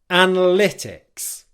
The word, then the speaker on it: analytics: Okay, so that a syllable, the first one, it's not the primary stress syllable in the word, but it has a certain level of stress on it. It's not as weak as the second syllable, which is a weak syllable.